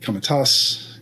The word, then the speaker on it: Posse Comitatus: The Posse Comitatus, I can never pronounce it properly.